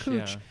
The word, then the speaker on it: Cooch: over, Cooch up into, which I'm not mispronouncing that, you know, folks, it looks like couch, but it's Cooch.